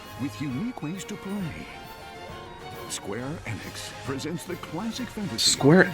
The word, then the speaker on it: Square Enix: Is it really pronounced Square Enix? Fairy HD. I feel like I keep hearing it pronounced Square Enix. I'm just I'm not going to do that. It's Enix. I don't care what you say. It's Enix.